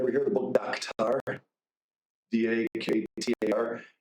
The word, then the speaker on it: Daktar: D-A-K-T-A-R. It's the way that the Bengali people in Bangladesh would pronounce doctor, Daktar.